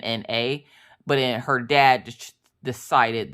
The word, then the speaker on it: Minna: Except for in the book, I think it's spelled Minna, but her dad just decided that he wanted to Mina. So it looks like Mina, but it's Minna. It's Minna.